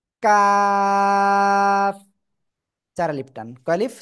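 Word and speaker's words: ق: বাড়াবো বাড়িয়ে তার বরাবর উপরে তালুর সাথে লাগিয়ে উচ্চারণ করব কাফ ঠিক আছে সবাই একসাথে জোরে জোরে পড়েন তো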